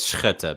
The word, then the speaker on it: Schutte: The original way is Schutte, but no one in America can do that. So we're going with shoot.